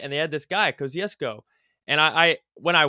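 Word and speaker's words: Kościuszko: for the job Thaddius kesco I believe I'm pronouncing that correctly you know I've heard a million different pronunciations I was always told it was kusco but I don't know yeah whatever we get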